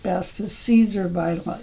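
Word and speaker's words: Siser: the Caesar blend I it's pronounced Caesar even though it's SI I think it's made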